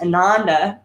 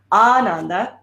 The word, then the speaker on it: Ananda: Maybe you've heard it pronounced Ananda. It's not how it's pronounced. Ananda is the correct pronunciation of the term.